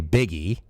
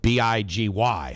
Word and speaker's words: Big Y: Y first of all you look at it and you're like okay biggie right I mean b i g y how do you pronounce that biggie but no it's Big Y and people oh my